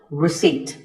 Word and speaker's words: receipt: As in word number 24, receipt. The P is silent.